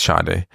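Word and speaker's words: Sade: d e it's it's people say shade but it's not say every everybody keeps saying s oh yeah who's s it's not s yeah but I feel like they should spell it differently yeah it's shade and I just want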